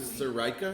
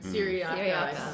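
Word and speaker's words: Cyriaca: Well, I think when Just got to Sarika, is that how you say her name? Syriaca.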